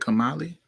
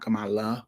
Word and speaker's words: Kamali: Kamali. Not Kamala. Kamali.